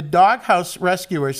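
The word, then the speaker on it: Dawghouse Rescuers: Hey, Mikey, the Doghouse Rescuers, and it's spelled D-A-W-G, dog, so I can actually pronounce it like that.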